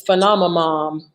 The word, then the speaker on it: Phenomamom: It's Phenomamom. Yep, that's me. Yeah. Phenomamom. That's a good one. Phenomamom. All right. Okay, so PHEN. OM. Yep. OMAMOM. Phenom a mom. Just like it's spelled.